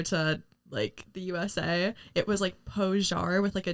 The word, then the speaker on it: Poyar: And then today we have Lindsey Poyar. Is that how you spell it? Is that how you pronounce it? Lindsey Poyar. Poyar. I love how hard you pronounce that. Poyar. Like it's French.